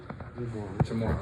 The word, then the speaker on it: Jamarr: Jamar, I'm sorry. Jamar. Oh, he's getting my name wrong.